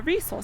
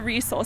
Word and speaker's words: Resoul: Not as in the sole on Not your as foot, in the shoe.